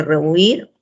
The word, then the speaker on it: rehuir: Entonces decimos, ahí tienen que tener en cuenta que la palabra tiene 2 sílabas, ¿no? Y que el acento recae en la última sílaba.